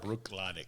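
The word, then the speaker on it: Bruichladdich: Brooklotic? Brooklotic.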